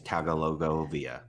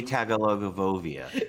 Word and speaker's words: Tagovailoa: Well, I would have taken Burrow over to it, and the correct pronunciation is Tagovailoa. Oh. Hey, wait, say it again. Say it again, Katie. Toy Tagovailoa.